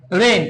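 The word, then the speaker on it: reign: তো এটার উচ্চারণ কি, রেইন। যদি কোনো একটা ওয়ার্ডের শেষে জি এন থাকে, তাহলে ওই যে জি থাকবে, জি এর উচ্চারণ হবে না, ঠিক আছে?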